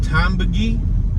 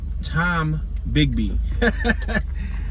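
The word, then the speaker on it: Tombigbee: So we're at Tombiggy, or I'm sorry, let me pronounce this right. Tom Bigby.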